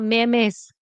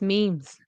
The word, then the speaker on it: memes: Okay, Spanish speakers, it's not memes, it's memes. Okay, so memes.